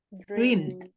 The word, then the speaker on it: dreamed: Dreamed. Jadi ed-nya itu kamu baca pakai t. Dreamed.